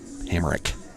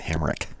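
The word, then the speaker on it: Hamrick: Hammer. Hammer. Sorry, I've been mispronouncing it all night. Hamrik, as I just heard AJ, our scorekeeper and general manager and PA announcer, Hamick.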